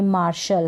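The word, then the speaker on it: martial: ये मार्शल है, टी के बाद में IAL है, टी को श पढ़ा जा रहा है, मार्शल।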